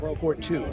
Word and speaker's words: Pourtout: the custom bodywork who did it is it pronounced port two port two right there yeah oh there it